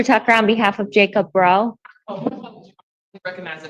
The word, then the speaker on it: Bro: Cherylyn Foster Tucker on behalf of Jacob Bro. Recognize the name with the spelling. Um Grace McD for the people. Your name sir? Um, Jacob, bro. It's pronounced bro. Bro, like B R O.